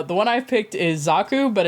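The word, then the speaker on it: Xaku: images so uh the one I picked is zaku but it's spelled x a kuu uh the unprimed version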